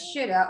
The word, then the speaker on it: should have: Should have is often pronounced as shoulda or should be.